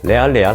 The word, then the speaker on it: 레알: 뜻입니까라고 물어보시는 분들이 계신데 영어로는 리얼이라고 하죠 진짜라는 뜻 이걸 요즘에는 한국의 젊은이들이 스페니쉬 발음으로 레알레알 하더라고요 명문 축구팀 레알마드리드 할 때 그 레알 그것입니다 진짜 뉴스만을 전한다라는 의미에서